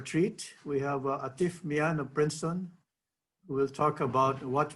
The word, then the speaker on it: Mian: everyone to introduce artif mia of princeton university by the way for that conflicting pronunciation of atif's surname i've checked that mine is correct ellie the n is meant to be silence but anyway but that's